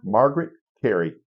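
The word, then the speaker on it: Margaret Kerry: is Tinkerbell say her name one more time Margaret Cary k e r r y k r wow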